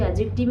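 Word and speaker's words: adjective: করলাম এডজেক্টিভ এটা কিন্তু এডজেক্টিভ উচ্চারণ করবে তোমরা এডজেক্টিভ নয় কারণ এই যে ডি টা থাকে এটা কিন্তু এখানে সাইলেন্ট ওয়ার্ড হিসেবে ইউজ করা সাইলেন্ট লেটার হিসেবে ইউজ করা হয় ডি টা তাই আমাদের পার্টস অফ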